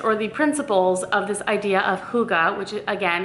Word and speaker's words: hygge: all winter it says it's called Huga so I say that's how it's pronounced Huga and basically I read through